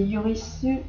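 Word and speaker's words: ユリス: américaine et européenne, et Yurisu, Yuris ou Yurisu, ça dépend. Ça dépend si on veut garder la prononciation en katakana ou pas. La version japonaise. Moi je l'appelle Yurishu. Parce qu'il est trop mignon!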